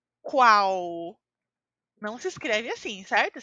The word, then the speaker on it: qual: às pronúncias marcadas em quando uma palavra termina em l a pronúncia é u então a pronúncia é qual não se escreve assim